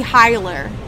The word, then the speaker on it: Hiller: It should be pronounced how it's spelled. John Hiller. Oh, it should be Hiler.